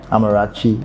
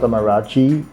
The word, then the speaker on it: Amarachy: So people can just spell it differently, even though it's pronounced the same way.